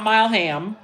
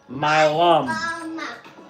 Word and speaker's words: Mileham: So my last name is pronounced Mileham. Not Mileham. Mileham. So it's like the My Mileham.